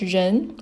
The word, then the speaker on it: 人: It's pronounced as 人 and it means person or people.